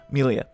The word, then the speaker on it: Melia: all right so amelia think of it like um it's pronounced like uh amelia but you know just without the a um okay uh or at least that's how google tells me it's pronounced milia all right uh based